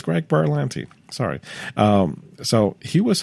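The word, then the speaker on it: Greg Berlanti: the back it says Greg berans um and sorry mispronouncing his name no it's Greg Buran sorry um so he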